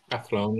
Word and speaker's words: Athlone: If I'm pronouncing that right, Ken? Yep. Athlone, yep.